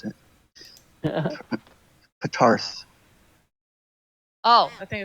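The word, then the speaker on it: Ptarth: Patarth. Oh, I think it's. I've heard it pronounced Tar. Tarth. Okay. Yeah, the P is silent.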